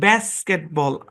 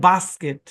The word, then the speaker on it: basket: তারপর দেখেন BASKET, এই শব্দের উচ্চারণ, এখানে যে এ আছে, আমেরিকান ইংলিশে এর উচ্চারণ ব্যাস্কেটবল, সরি বল নাই, ব্যাস্কেট। আর ব্রিটিশ ইংলিশে এর উচ্চারণ বাস্কেট, বুঝছেন?